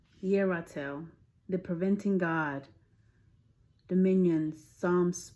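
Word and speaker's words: Yerathel: So how you pronounce this is Yeratel, the preventing God.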